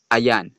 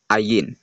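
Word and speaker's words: עין: Hebrew letters paano nagiging So to make this clear the original pronunciation of this letter is ayan not ayin.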